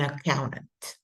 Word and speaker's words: accountant: here in this word there's an N before the T so often that is going to be deleted so accounting and the person would be an accountant or an accountant without the T psychology so your major